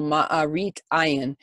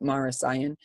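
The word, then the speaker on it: מראית עין: And unlike the roasted lamb, which is avoided during the Seder meal to avoid what we call ma'arit ayin, which is, or some people will pronounce it maris ayin, basically the idea that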